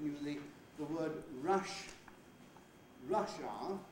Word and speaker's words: Russia: of the country russia of course all native english speakers have a schwa wow a central vile at the end of that word most non-native speakers tend